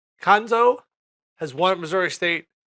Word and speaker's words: Cuonzo: his first name kanzo kanzo the U is silent kanzo has won at Missouri